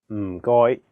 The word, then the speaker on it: 唔該: The first character is in a very low tone, fourth tone. It sounds a bit like when someone is thinking about a plan and they say, Notice that there is no vowel in this syllable, so you have to really stress the sound. And then the second character is in a high flat tone, first tone.